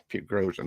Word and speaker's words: Prigozhin: Pachinko, what's his Por, Prigozhin.